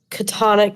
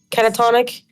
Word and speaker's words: catatonic: in a kind of catonic state i think it's how you say it yeah catatonic he he looks between the